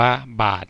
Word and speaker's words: บาตร: ข้อ ที่ 2 นั้น อ่าน ว่า บาตร นะ ครับ บ อา ด บาต แม่ กด นะ ครับ ไม่ ใช่ แม่ กบ เอา ล่ะ ครับ สำหรับ